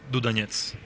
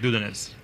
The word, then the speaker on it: Dudanets: In Russian, it is Dudanets. So just Dudanets. Yeah. Oh, there it is. Yeah. I think the Americans tend to make the stress on the first vowel, like Dudanets.